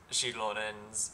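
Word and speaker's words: Xilonen: up a pronunciation guide they actually do pronounce shonan's name correctly it is with the sh so yeah that that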